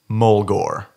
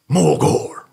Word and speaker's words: Mulgore: Mulgore. I also say it like this. Mulgore. Which you can take as... Saying it like that makes me think... You can take it as metal or like horde.